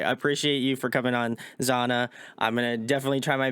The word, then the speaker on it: Zahna: I just think so my full name is in Spanish Spanish that's where it comes from so just Zana is like the English version yeah so I